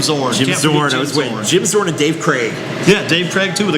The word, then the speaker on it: Krieg: Jim Zorn and Dave Craig. Yeah, Dave Craig too, with a K-R-E-I-G kind of Craig. Yeah, looked like Krieg, but pronounced Craig.